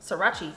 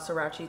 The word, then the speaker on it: Sriracha: onion powder garlic powder paprikas ratchet paprika Sriracha Sriracha that's what Jamila calls it um don't you call it uh shoes called srirachi till I told her how to say it